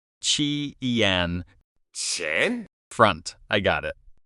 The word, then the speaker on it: 前: Chi-ian. So is that pronounced like K, like Kien? Nope. In Chinese, Q never sounds like K. It actually sounds like CH, like in cheese.